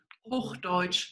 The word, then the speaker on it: Hochdeutsch: There was a question in the chat about if everybody speaks, I'm going to mispronounce this, Hochdeutsch. Hochdeutsch.